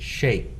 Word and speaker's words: Cheick: How do you spell that? Cheick. The last name is easy. Congo, Kongo. Okay. Actually, his family is from the Republic of Congo, Mm-hmm. so it's his stage name, Congo, Kongo. Okay. Because I was thinking like Shake Shack. Shake Shack. No, pronounced like Shake Shack. Right. Spelled not.